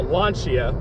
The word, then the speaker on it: Lancia: And of course, how Lancia, which is what I've been told is how it's actually pronounced. Well, I'm still gonna butcher it and just call it Lancia.